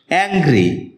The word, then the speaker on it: angry: অ্যাংগ্রি এটাকে আমরা এংগ্রি বলে থাকি যার সঠিক উচ্চারণ হচ্ছে অ্যাংগ্রি এটি বাক্যে এডজেক্টিভ হিসেবে